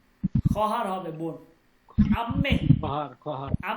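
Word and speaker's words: خواهر: খহার এখানে ও এর উচ্চারণ হবে না। ও এর উচ্চারণ সাইলেন্ট থাকবে। হ্যা ওর উচ্চারণ হবে না। লেখাতে আসবে কিন্তু উচ্চারণ হবে না। খহার হবে বোন।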